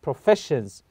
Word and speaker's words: professions: So again, the word here is professions. So S-I-O-N and the F-E here is the syllable. So we say professions. So the F-E, we stress this syllable.